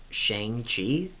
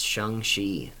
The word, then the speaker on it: Shang-Chi: Shang-Chi is the wrong pronunciation. It's Shang-Chi. Shang-Chi. Yeah. No, that makes sense. When the Shang-Chi trailer drops, so many people are going to be like, why are they pronouncing his name weird? When they say it makes sense. As Americans, we overextend our A's.